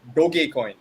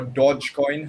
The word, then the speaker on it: Dogecoin: was referring to was dogecoin and the numbers like like that also or dodge coin however you want to pronounce it is that coin